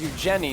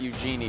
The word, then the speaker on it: Eugenie: Oh, her name is Eugenie, not Eugenie. It doesn't rhyme with Vanini.